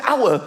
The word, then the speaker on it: hour: Why is the word hour spelled with an H? Why is there an H? The silent H.